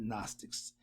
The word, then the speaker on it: Gnostics: They spell Gnostics. The G is silent, so you got Gnostics, Hindus, and the Buddhists, who all came long before the Jews and their Kabbalah.